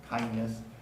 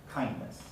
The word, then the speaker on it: kindness: speakers who say often kindness is variable some people delete the d kind becomes kindness kindness but some people in careful speech do still pronounce it it's because it's between two morphemes right the adjective kind and the this some people will keep the d in certain dialects the standard pronunciation is to delete the d in that context kindness kindness asked asked